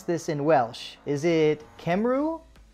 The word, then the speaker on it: Cymru: Is it Cymru? It's not far off, Art. It's not far off. It's Cymru. So, yeah, it's Cymru. But to be fair, that's one of the better pronunciation efforts I've heard.